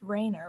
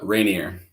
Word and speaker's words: Rainier: So, tonight I have, it's pronounced Rainer, right? Is that right? Rainier. Rainier? Oh, wait, I was way off.